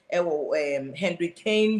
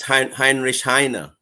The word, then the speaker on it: Heinrich Heine: Henry Kane University. Prof, I don't know if I got the name correct. How do you pronounce it in German language? It's Heinrich Heine.